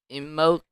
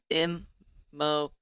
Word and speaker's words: Immokalee: You're in Imo. Sorry if I pronounced this wrong. Immokalee. No, Immokalee, Florida.